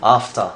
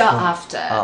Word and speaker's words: after: 네, 그리고 R 발음을 세게 안 해서 네. After도 After 이게 아니고 After. 그렇죠, After.